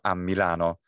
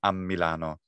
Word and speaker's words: a Milano: So a Milano, you have a double M sound, a Milano, or it's to you, a te.